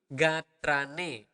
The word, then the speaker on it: gatrane: Sapunapi gatrane. That would be again, you need to clearly pronounce the R.